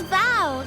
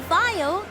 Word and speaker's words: Val: It's Val, not Vile. That's how you say it.